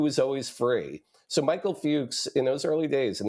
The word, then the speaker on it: Fuchs: am I pr and I'm pronouncing his last name right you are yeah he was against doing series television Michael Fuchs by the way was